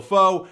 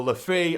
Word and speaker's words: Le Fée: Enzo lefo or lefi I'm pretty sure you pronounce it lefo but as you know I butcher names a lot but I am pretty sure it is lefo because it has the little thing on the E but you know what